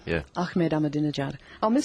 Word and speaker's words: Ahmadinejad: Whoever get organised, nobody is going to be able to say Ahmadinejad. Yeah. Ahmed Ahmadinejad. I'll miss saying that. You just remember a dinner jacket and try and just think of that.